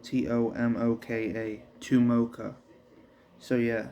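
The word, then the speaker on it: Tomoka: what to say about chimoka but his name is spelled t-o-m-o-k-a to mocha so yeah said to mocha as he held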